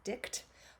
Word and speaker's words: dict: speak or tell and it's usually pronounced dick but we like to